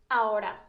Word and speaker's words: ahora: Ahora. Ahora. And you say that H this time, or not? Ahora. Ahora. So No. you don't really say it. You just go from the A, skip the H to the O.